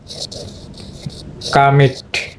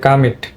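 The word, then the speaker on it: commit: ক আর এটা হলো কা এটা হবে তোমার কামিট এটা কিন্তু উচ্চারণটা হবে কামিট আর এটা হলো তোমার হলো কমান্ড তো এটা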